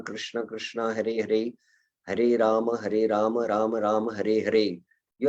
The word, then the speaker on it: Rama: the full syllables in Rama. It is not Rama, Ram, it is Rama.